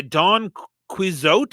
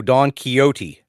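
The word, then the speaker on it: Don Quixote: was first used by Don quot is that how you say this guy's name no Don keyote oh really yeah okay Don kote so the a is silent okay fair enough yep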